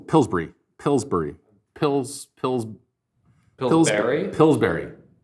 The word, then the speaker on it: Pillsbury: Pillsbury pills pills pill pillsberry because you say b r y is pronounced Berry so it's like pillsberry yes it does if